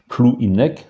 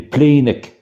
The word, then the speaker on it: Plouhinec: Plouhinec, hein, c'est la forme administrative, donc prononciation en français, et Pléinec, hein, en breton.